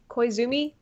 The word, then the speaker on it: Koizumi: do you say his last name is a Koizumi yeah me why zoomies yes good job zooming